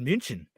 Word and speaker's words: München: States we say Munich. It's not called Munich in Munich. It's called München.